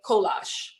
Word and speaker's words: kolache: So we are going to make kolache. That is how you pronounce it.